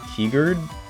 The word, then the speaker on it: Kierkegaard: Horny Japanese mangaka Mog, Stephen King, Tolkien, Herbert, and Kierkegaard? Kirk Eggers?